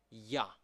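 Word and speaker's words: יה: The first is Yod Hey, and we pronounce it Ya.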